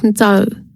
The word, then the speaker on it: Yer: Yer is pronounced Nzao.